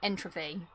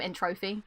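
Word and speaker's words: N. Tropy: Bandicoot 3's boss fight when you fight Entropy. That's how you say it. I used to call him Entropy.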